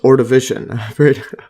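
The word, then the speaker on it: Ordovician: uian period yeah or I think it's pronounced or division or you had to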